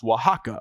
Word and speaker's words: Oaxaca: that's spelled, it is it's spelled just the way it sounds. Wajaka, O Axa.